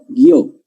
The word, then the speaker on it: guió: Porque cambia el acento. ¿Te acuerdas que dije guío, guió? Tránsito, transito.